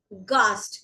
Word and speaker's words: Gast: Gast.